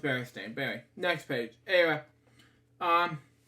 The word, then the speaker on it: Berenstain: you go okay birthday next page anyway it's pronounced Berenstain Berry next page anyway um um Lou Jane